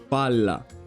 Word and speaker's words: palla: You see these two very similar words, but one is pronounced pala, the other one is pronounced palla.